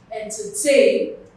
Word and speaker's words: entertain: Entertain. Tay carries the stress.